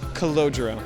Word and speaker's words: Cordero: Cordero.